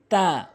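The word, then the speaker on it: تاء: তা ভুল উচ্চারণ, তা ভুল উচ্চারণ, সঠিক উচ্চারণ হচ্ছে জিহ্বার আগাটা, জিহ্বার আগাটা সামনে দুটি দাঁতের গোড়াতে মিলিত করবেন, তা, তা, তা, তা।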